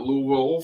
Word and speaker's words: Louisville: I had the opportunity to meet in Louisville, which I've been told that I try to add more symbols or syllables in there than are necessary. But Louisville for a meeting with